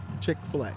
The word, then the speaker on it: Chick-fil-A: Chick-fil-A, dude. Amazing. You say Chick-fil-A? Is that how you say it? Chick-fil-A.